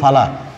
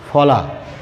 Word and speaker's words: ফলা: This is ফলা, নট ফালা। আমরা অধিকাংশ এই শব্দটাকে এই ধ্বনিটাকে ফালা বলে উচ্চারণ করি, আসলে ফালার ফলা আলাদা।